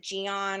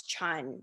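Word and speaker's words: Jeon: at my last name it's spelled j-e-o-n and they're like oh is it jion or john i'm like no it's chun because in korean every last name is one syllable and i always correct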